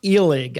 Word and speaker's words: Illig: But anyway, this guy's name was Herbert Illig, I believe is how it would be pronounced.